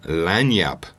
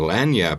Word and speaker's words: lagniappe: I learned the term land yup and land Yap is actually spelled like lasagna its l AG in ia PPE and you're like what